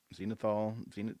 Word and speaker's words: zenithal: primed using the uh, zenithal. I don't know how to say it, Eric. I think you Zenithal nailed it. method. Zenithal. It's because it's the zenith.